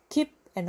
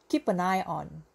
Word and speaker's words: keep an eye on: Keep on eye 하지 마시오. on 말고요. 앞에 발음이 on 하면 뒤도 on이 돼버리니까 그냥 n으로 n 자생하시면 돼요. keep an, keep an. 빨리 말할 때 keep an eye on, keep an eye on.